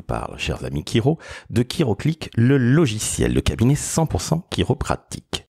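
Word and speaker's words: Chiroclic: chers amis Kiro de kiroclick le logiciel le cabinet 100 % kiropratique si vous ne connaissez pas encore kiroclic ça s'écrit C H i r o C l I c et vous pouvez aller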